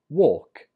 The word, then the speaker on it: walk: The difference is in the vowel, or and er.